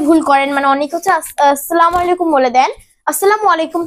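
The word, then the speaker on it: السلام عليكم: সালাম দিয়েছ ঠিক আছে কিন্তু তোমার সালামের উচ্চারণটা ভুল হয়েছে তাহলে উচ্চারণটা কি হবে উচ্চারণটা হবে আসসালামু আলাইকুম বলো আচ্ছা আসসালামু আলাইকুম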